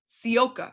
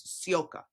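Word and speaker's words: Sivka: Sioka. I know it looks like civa but her how you say it is Sioka for everyone out there.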